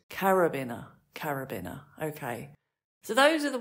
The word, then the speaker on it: carabiner: Rope which was a carbiner I think I said carbin to begin with but it was carabin oh I remembered it a little bit but not the correct pronunciation again I've got a